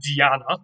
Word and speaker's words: Diana: Now, this comes from the Latin Diana. That's how they would have pronounced it, of course.